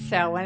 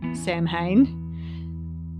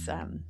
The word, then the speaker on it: Samhain: It's pronounced Samhain as I'm saying it, but it's spelt very different to how it's pronounced.